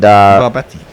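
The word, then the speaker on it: Barabati: It's at the Barabat Stadium. Right, okay. And Barbati. Yes. That was a nice bit of pronunciation there, Bear.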